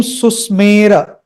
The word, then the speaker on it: सुस्मेर: Om Susmera, Om Susmera, Susmera, Susmera, Tan, not Tana, Tan.